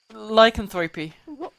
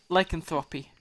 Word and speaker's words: lycanthropy: bad things happen why lycanthropy how you pronounce it yeah lycanthropy like i used to pronounce it like Anthropy like i don't think it's pronounced like Anthropy i think it's 3 p well the